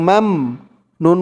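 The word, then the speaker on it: مَمْنُون: মিম দিয়ে এই মিম ধরবে, মিম মিম জবর মাম, غير মাম। নুন ওয়াও পেশ নু, غير মামনু। নুন দুই জের নিন, এখানে উচ্চারণ হবে মামনুন।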